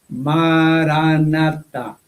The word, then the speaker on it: maranata: Maranata dice, dice don John May, yo recomiendo la palabra aramea maranata. Repítala en cuatro sílabas igualmente acentuadas.